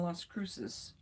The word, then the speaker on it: Las Cruces: There's a Cracker Barrel in Las Cruces. That's the way you pronounce it.